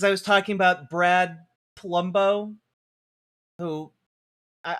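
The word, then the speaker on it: Polumbo: Uh because I was talking about Brad Palumbo who I I've been informed I his name is Palumbo but when I say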